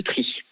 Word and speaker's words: Trith-Saint-Léger: Alors on prononce tri et pas trite, c'est ce que me dit notre ami nordiste Valérie Aubert, journaliste. Pardon. Désolé, J'ai Valérie. fait la sudiste, on dit tri mais Charles, avant de